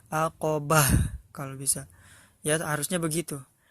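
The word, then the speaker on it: عقبة: aqabah pendek Hai dan disini ada huruf marbutoh dan ini jangan dibaca kalau di wakaf kalau di akhir hayat jangan dibaca maka kita sukun kan aqabah ya jangan lupa Hanya harus terdengar ya aqabah kalau bisa ya seharusnya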